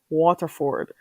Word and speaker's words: Waterford: loves water it I can't pronounce it the way around here I pronounce my T's hard Waterford yeah girl are you